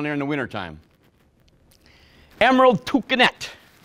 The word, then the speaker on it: toucanette: Emerald toucanette. It's going to be their smallest toucan. And the collared arisori. Read it. It's spelled like arikari, but pronounced arisori.